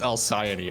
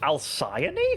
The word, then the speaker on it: Elazer: it is a laser I believe it's pronounced alion I think that's it alion wow yeah it's supposed